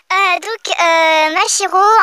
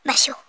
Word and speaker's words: Mashiro: Mashiro, en fait, c'est comme... une machine.